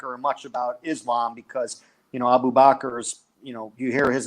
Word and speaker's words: Abu Bakr: Let me ask you something, because was it just me, or are they mispronouncing his name? His first name? Correct. It's Abu Bakr.